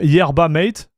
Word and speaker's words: yerba mate: Arpeio team yerba mate. What is yerba mate? Reboot computer. How are you doing? Close enough. It's similar to Spanish. As long as you can roll your R.